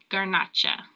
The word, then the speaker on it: Garnacha: They also make Monastrell, which is also known as Morvedra, Syrah, and Grenache, which in Spain is pronounced Garnacha.